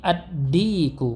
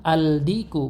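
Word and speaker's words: الديك: Dikun menjadi ad-diku, bukan al-diku, bukan, namun ad-diku.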